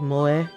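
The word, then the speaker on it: 萌え: Japanese like Mo like MO is a Japanese word that refers to Strong feelings of affection for characters in manga anime video games and other media directed at the otaku Market it's pronounced Mo yeah there we go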